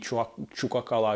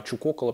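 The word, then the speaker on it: Чукоккала: Я имею в виду не Чукакала, а Чукокала, потому что не Куакала, а Куокала.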